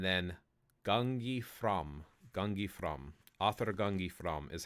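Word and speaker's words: áðr: uh that specialized character it looks like a d with a little hook at the top that's actually pronounced like a th that is an icelandic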